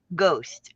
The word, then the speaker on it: ghost: Ghost. Ghost. There's no You don't hear the H.